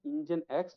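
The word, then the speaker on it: nginx: how it is pronounced basically it's an engine X so what they have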